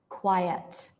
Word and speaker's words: quiet: what about this one look carefully at the spelling right this one is quite this one is quiet quiet quiet has two quiet Qui this one